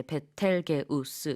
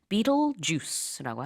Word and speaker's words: Betelgeuse: 그래서 이거를 이제 그대로 우리는 이제 베텔게우스 이렇게 발음을 하죠. 하나 영어로는 비틀주스라고 합니다.